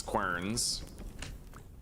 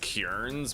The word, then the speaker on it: querns: All right, we now need to deactivate both of these querns. Apparently they're pronounced kierns, but that just no.